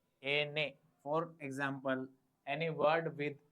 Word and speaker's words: ene: The pronunciation of N is Ene. The pronunciation of N is Ene. Ene.